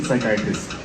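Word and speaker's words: psychiatrist: इसमें तो व्हाई इज द P silent in साइकेटिस्ट B silent हां वो साइकेटिस्ट में पी है पहला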